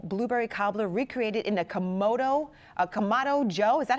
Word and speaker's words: Kamado Joe: This beautiful blueberry cobbler recreated in a Kamado Joe. Is that how you say it? Kamado Joe.